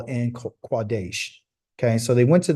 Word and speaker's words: Kadesh: a letter K called cadesh but it's really quades it's not it's not Kadesh it's quades that's the true um pronunciation that's the true letter it's a q not a k um the English and